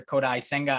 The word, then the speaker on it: Kodai Senga: multiple reports and that is again Japanese pitcher kodai senga again I believe is how you pronounce that uh 29 year old righty this